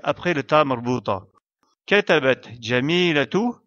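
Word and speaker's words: جميلة: Donc, on doit prononcer son Ta marbuta comme la lettre Ta, ainsi que la voyelle qui lui est associée. Jamilatu.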